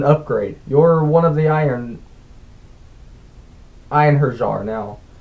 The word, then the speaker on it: Einherjar: You're one of the Einherjar now. He pronounced the word like Einherjar. Einherjar, I repeated. Just rolls right off the tongue. Yeah, singular. Einherjar. He said it like Inherjar, or Inheryi.